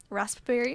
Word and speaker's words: raspberry: messes me up that raspberry has a pee in it you know raspberry blue raspberry where does it come from are you supposed to pronunciate the p raspberry i don't think so no why is